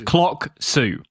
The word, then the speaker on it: Clocksu: Yeah, it's Clocksu. So clock, tell the time, and then Sue like the name.